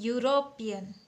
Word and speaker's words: European: तो ये है यूरोपियन, बट इसका साउंड य से हो रहा है।